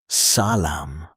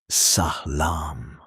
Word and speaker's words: salam: In Persian, one of the most common ways to say hello is salam, pronounced sah-lahm.